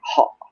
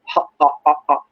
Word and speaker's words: hot: And this reminds me of the British English when they pronounce words like hot. I remember one British lady who used to ask me for water. So she kept asking me, hot water, please, some hot water. Hot. Unreleased, hot water.